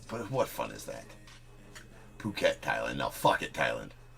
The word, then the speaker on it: Phuket: Okay, total transparency, it is pronounced Phuket. But what fun is that? Phuket, Thailand now.